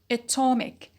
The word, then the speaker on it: atom: stress shift and also we notice a change in the vowel quality in the noun we used to have the vowel a at the beginning but it turned to be and it changed to a schwa in the derived adjective and it becomes uh